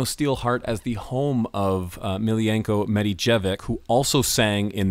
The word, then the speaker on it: Milijenko: Is it Milijenko or Milijenko? Milijenko, right. Milijenko.